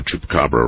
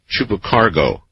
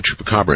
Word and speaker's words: chupacabra: Last night, someone butchered the pronunciation of chupacabra in an interesting way. I believe he called it chupacargo.